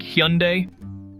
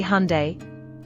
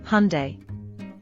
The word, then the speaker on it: Hyundai: Look at that sleek Hyundai. Wrong again. It's actually Hyundai. Another one? I always thought it was Hyundai. Nope. The correct pronunciation follows the Korean style, Hyundai.